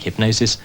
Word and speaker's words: Hipgnosis: paid design companies like Hipgnosis more money. Hipgnosis, spelt with a G of course, was named after a